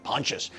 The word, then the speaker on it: Pontius: Avenue in West LA when I say pontious p o n t i s I don't know how to pronounce it I was like is it Pontius no I had to put it in Google and then Google told me pontious 1845 pontious in West